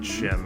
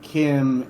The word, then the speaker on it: CHIM: Or is it Chim? I don't forget how it's pronounced. It's Kim. I've always heard it Kim. I've never heard anybody pronounce it Chim.